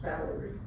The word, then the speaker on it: bouwerij: The Dutch word for farm is bouwerij, spelled with W's and J's, pronounced bouwerij.